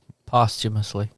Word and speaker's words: posthumously: Oh, Posthumously. there you go. I'm just saying there's no R in it because there's no humor in the situation. Humously.